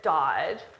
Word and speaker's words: dodge: Now, maybe you heard this word, dodge, but you probably didn't know how to spell it with that silent letter there, right?